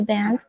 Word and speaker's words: Banff: Banff.